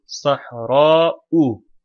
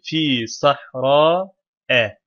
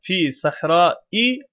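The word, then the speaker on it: صحراء: Sahra burada başında herhangi bir şey olmadığı için nasıl okunur? Sahra-u. Sahra-u diye okunur. Çünkü raf halinde olan kelimeler her zaman böyle okunur. Başına fi harfi cerri geldi. Fi sahra-e. Gayrimusarif ya. Gayrimusariflerin cer hali feta ileydi. Bu yüzden sahra-e oldu. Fi sahra-e. Fi sahra-i olmaz. Esra almazlar.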